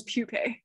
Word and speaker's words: Pushpe: So the ones that people usually mispronounce because the English letters would make you mispronounce them, pupe is spelled like pushpe. No, it's pupe.